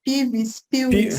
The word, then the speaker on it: PIWIS: sei como é que pronuncia em alemão, mas acho que é PIVIS, eu não sei como o PIWIS. deve PIWIS, ser. em alemão, W tem som de V, mas chamaria PIWIS sem problema.